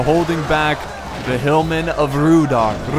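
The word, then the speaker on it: Rhudaur: Spear militia holding back the hillmen of Rudar. You gotta roll your R's every single time.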